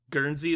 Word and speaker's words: Guernsey: philippines the united states you said guarantee it's guernsey guernsey is how you say it yeah it's it's it's